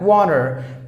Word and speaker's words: water: towards the end for example look at that water before and after the vowel the T you